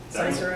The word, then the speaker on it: Cysero: How many times have you heard someone say Cysero, Like a million? Cicero, Cicero, That one's correct.